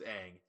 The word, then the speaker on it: Aang: going off the movie uh his the actual pronunciation is is Aang yeah I know that annoyed me when I